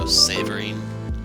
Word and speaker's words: Séverine: not familiar with French, this is an acute accent mark. It makes the E sound have an A sound, so Séverine. That's how her name would be pronounced for using the French pronunciation.